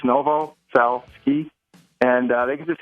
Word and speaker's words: Novoselsky: spell it's just uh it's the n. novaski which is n o v o s LSK KY it's simple it's Novo cell ski and uh they can